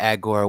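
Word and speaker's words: Augur: would say the salt wallet has value the agora while it has value and agor is spelled a u g u r wallet wallet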